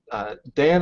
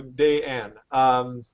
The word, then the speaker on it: Dayan: with you two, Dan, I've been saying your name wrong all this whole time. It's Dayan? Yeah, we've been messaging Ahmed and telling he's been they're doing like, it you're wrong. saying it wrong. I'm like, no, not. No, it's just. So Dayan.